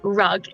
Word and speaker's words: Rug: My name is Rug, and it's actually pronounced Ruge, or please don't call me Rug.